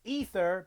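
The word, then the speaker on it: Aether: then you have a ether now I know it's pronounced ether but it's spelled a-e-t-h-e-r so a ether n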